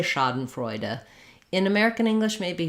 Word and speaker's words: Schadenfreude: the ah vowel um first syllable stress so it sounds like Shah um uh for that